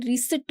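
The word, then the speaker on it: receipt: रसीद बही, इसे बोला जाता है रिसिप्ट book. Okay, this is रिसिप्ट, रिसिप्ट नहीं बोला जाता, रिसिप्ट बुक, इसमें पी साइलेंट होता है।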